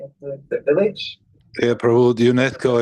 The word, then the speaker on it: UNESCO: Yeah, Prabhu, UNESCO is fine. That's the way it's pronounced. Sorry. Okay, cool, thanks. UNESCO.